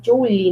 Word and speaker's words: Joule: Mas a pronúncia correta é Joule, né? Alguns chamam de Joule, mas o correto é Joule, né?